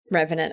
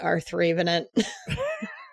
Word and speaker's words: Revenant: And probably continually mispronounce Revenant as R3 Venant.